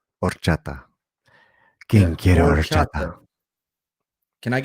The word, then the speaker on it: horchata: But we don't say it like that, right? Just let go the H. Horchata.